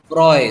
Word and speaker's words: froid: आप एक काम करो, लास्ट का डी साइलेंट कर दो, अब आप कैसे बोलोगे? फ्रॉय।